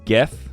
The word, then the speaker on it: GIF: This is GIF, not GIF, because GIF would be with the J.